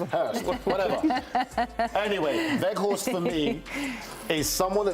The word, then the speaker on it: Weghorst: thing that I would say is they've got Weghorst. How's that pronunciation? You like that one, didn't you? Wout Weghorst.